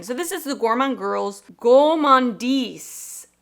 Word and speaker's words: Gourmande: so this is the gourman girls gandis with the French muted R go GES this palette